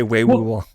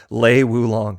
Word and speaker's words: Lei Wulong: Because I always say Wei Wulong. Lei Wulong.